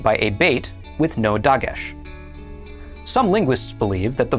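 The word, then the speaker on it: דָּג: It is pronounced dog and it means a fish.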